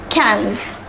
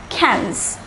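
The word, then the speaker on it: quinze: 15 is pronounced as cans the pronunciation is different from the spelling it is pronounced similar to the english word cans cans so let us say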